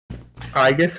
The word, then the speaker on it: Aegis: Aigus, I think it's pronounced. Yeah, that's right.